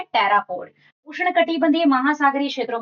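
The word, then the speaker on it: pteropod: अगला देखो टेरापोड। P silent है।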